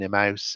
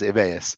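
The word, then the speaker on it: Emmaus: So the people that uh uh the colleagues that join Imouse Emus, sorry I keep mispronouncing it. It is Emmas.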